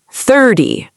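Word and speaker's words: thirty: So remember, teen numbers, the stress is at the end. 13, 14. And the 10 numbers, 30, 40, 50, the stress is at the beginning. 30, 40.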